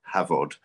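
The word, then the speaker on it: Hafod: made into cheese on the farm cheese called havod and that's where if you want to follow us at the farm it's at havoc cheese which is uh welsh by the way h-a-f-o-d pronounced v havod and um we've been trying to farm sustainably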